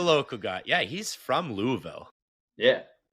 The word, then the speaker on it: Louisville: Yeah, he's from Louisville. Yeah. I figured out it's not Louisville, it's Louisville. Louisville.